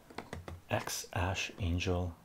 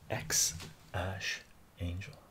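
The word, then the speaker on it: X Æ A-Xii: X Ash Angel is how it's pronounced. X Ash Angel.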